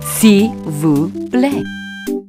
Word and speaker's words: s'il vous plaît: It is pronounced s'il vous plaît.